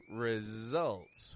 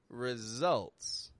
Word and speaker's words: results: Easy results. Whoa, there's another one, isn't not? Results. Results. R-E-S-U-L-T-S. Easy results. Another word where the S is sounding like a Z.